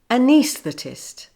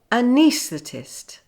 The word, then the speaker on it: anaesthetist: sounds close together but the stress is now on the AE which changes the sound from uh to E the first syllable also changes to the schwa sound uh so to begin with say uh plus knees plus the plus test anesthetist anesthetist some people may say it